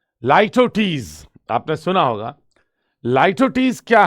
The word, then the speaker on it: litotes: अब लाइटोटीज, पहले तो इसका प्रोनाउंसिएशन इंपॉर्टेंट है, लाइटोटीज, ओके। ऐसे नहीं पढ़ना है लिटोटीज, ये याद रखें, लाइटोटीज, लाई फोनेटिकली लिखे हैं तो लाई टाउ और टीज, लाइटोटीज, ठीक है।